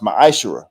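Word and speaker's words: מעשר: 18:21 and Malachi 38-10 means 10th in Hebrew and is pronounced maish 10% of every penny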